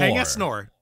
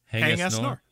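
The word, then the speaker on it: Haing S. Ngor: Hang S Nor. Yeah, there you go. Say Hang S Nor, yes. Hang S Nor. He just let Americans say it that way.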